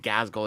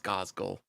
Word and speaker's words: Gazgul: You've been pronouncing it Gazgul. It's Gazgul.